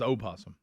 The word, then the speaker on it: opossum: correct term's opossum. Yes, Opossum. it is. Okay. It's the way it's spelled too.